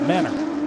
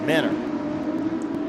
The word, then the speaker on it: Mentor: with us but uh from mentor near Cleveland they pronounce it Menor Menor like lebani battle for